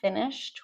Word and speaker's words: finished: Finished with a t sound, please.